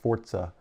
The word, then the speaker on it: Forza: like Forte hey man Forza is Italian for Force zebricks yes um and it is supposed to be pronounced Forza it is so I